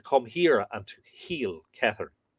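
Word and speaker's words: Cethern: here and to heal Kehern. Kehern or Kethern. Kehern, I think it would be pronounced.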